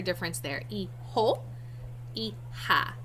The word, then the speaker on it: hija: J's are pronounced like H's in Spanish, and H's are silent. So it's pronounced hijo, not hijo, or however else you would try to pronounce it. Hijo and hija, all right?